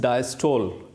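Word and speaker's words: diastole: The first term is डायस्टोल, sometimes it is also pronounce as डायस्टले। ठीक है, डायस्टले भी कहते हैं, डायस्टोल भी कहते हैं इसको और डायस्टले भी कहते हैं।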